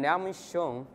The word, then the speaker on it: Liangming Xiong: I'm Liangming Xiong, and you can call me, because Liangming Xiong is very difficult for pronunciations.